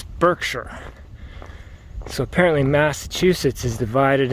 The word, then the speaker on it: Berkshire: an old English spelling with a new American pronunciation. It's actually Cheshire. And this area we're in, it's not Berkshire, it's Berkshire.